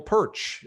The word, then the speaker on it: Pyrcz: Anyone here who has not seen me, heard from me before, I am Pyrcz. It's pronounced just like Perch.